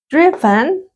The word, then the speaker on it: driven: Entonces, recuerden para la pronunciación del verbo manejar, conducir en pasado participio, ¿sí? Driven, driven, ¿sí? La vocal E, dijimos, tratamos de no pronunciarla, ¿sí? Sino de hacer más el sonido de la N, ¿no? ¿Sí? Solo el sonido de las consonantes.